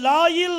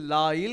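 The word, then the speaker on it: לילה: மட்டும் உச்சரிக்கும் போது केवल इसको बोलते समय அத லாயில் அப்படினு சொல்லி உச்சரிப்பாங்க. उसे लाइल करके कहते हैं।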